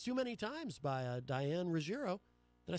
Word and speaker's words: Ruggiero: This is Too Many Times by Diane Ruggiero. Did I say it right? Ruggiero.